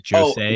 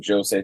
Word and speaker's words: josei: So I don't know how a J is pronounced in Japanese, but it's like josei.